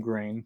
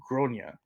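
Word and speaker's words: Gráinne: I would like to point out that I do not like the name Grain for the a child, nor do I like the way the pronunciation was butchered, but I was trying to be tactful and positive.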